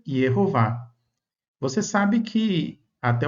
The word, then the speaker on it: Jehová: No texto hebraico nós encontramos essas vogais e o e a no tetragrama. E aí a pronúncia, a vocalização fica Jehová.